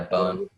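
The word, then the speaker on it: Bohn: Danny, how do you pronounce that? Bone? Yeah, Bone.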